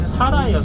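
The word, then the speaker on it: Zara: 안 돼요 사나이에요 사람 여기는 제트 지바름이 S 발음하거든요 제가 사라예요 사라 사라인데 이게 영어권에서는 그지 발음을 하다 보니까 자라가 된 건데 원래 살아요 그래서 스페인 갔다 온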